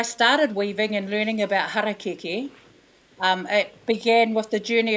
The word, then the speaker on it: harakeke: did was to ask Edith how to correctly pronounce Harakeke. So hara and keke.